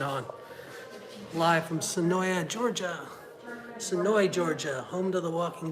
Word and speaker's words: Senoia: that notification turned on live from sonoya georgia sonoy georgia home to the walking dead here's the michonne outfit it's spelled sonoya but it's pronounced sonoy leave me